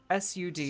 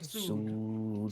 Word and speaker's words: Sud: S-U-D, Sud? but like a long U. Sud. Okay. I was just making sure I had the pronunciation. You're good. Like ood. Yeah, like food, but Sud. Sud. Sood.